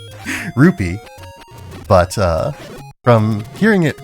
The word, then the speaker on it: rupee: for anyone who's particular about the pronunciation of rupee vs ruby i do in like every other zelda game i do call it the proper thing ruby or roop sorry rupee but uh from hearing